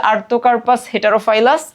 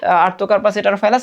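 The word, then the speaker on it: Artocarpus heterophyllus: কাঁঠালের সাইন্টিফিক নাম হচ্ছে আর্থোকার্পাস হেটারোফাইলাস।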